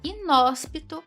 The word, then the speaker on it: inóspito: Quanto à acentuação, a palavra inóspito classifica-se como letra A, oxítona, B, paroxítona, C proparoxítona, D átona ou letra E monossílaba. Inóspito classifica-se como proparoxítona.